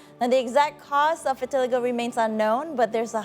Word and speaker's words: vitiligo: But can you elaborate more about vitiligo and how common is it? Okay. First of all, no offense, Hans. We spell it in English actually in vitiligo.